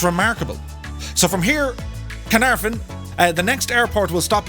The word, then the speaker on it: Caernarfon: We're here in a place called, I'll pronounce it for you. It's called Carnarvon.